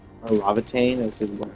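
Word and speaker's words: Laevatain: It's interesting that our code name is Levitane or Lavatane as is what it's pronounced in the original game.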